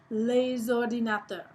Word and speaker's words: les ordinateurs: S, you can say les ordinateurs, and you can just kind of pull it all together. Les ordinateurs. You get to pronounce that S because of the O in ordinateur.